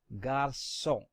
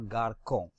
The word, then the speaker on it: garçon: However, when C is followed by A, O or U, and you want the pronunciation of C to be like S, then we put a cédille under C. Therefore, this is pronounced as garçon and not garçon.